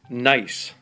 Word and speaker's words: gneiss: More precisely, it's a type of granite pronounced gneiss.